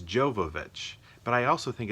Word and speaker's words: Jovovich: Mila, gosh, I always say Jovovich. No, I don't even say that. I say her name completely wrong. Mia, I probably call her Mila or Mia. I honestly don't know which one I do. Jojovich, which is completely wrong. Jojovich? No, it's Jovovich.